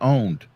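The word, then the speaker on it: Own3D: It's called Owned, but it's spelled OWN 3D.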